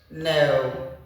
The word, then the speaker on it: know: Your K is silent in this word. All right. Let me close them up so we can sound it together. That's it. Say, tell. Do is have no know.